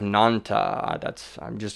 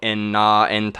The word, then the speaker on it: Nanta: Union, where you have Nanta. I say it how it's spelled. I don't do the whole inserting the last Hebrew blah blah blah and go enna enta.